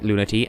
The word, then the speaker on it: Lunatea: I'm going to pronounce it Lunatea, and you're going to have to live with that.